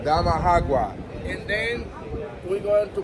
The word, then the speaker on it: Damajagua: How do you say it? Damajagua. Damajagua.